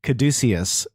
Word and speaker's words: caduceus: before in season four Mercy will see her caduceus staff healing it really is how you say it yeah that sounds stupid per second increased from 45 to 55.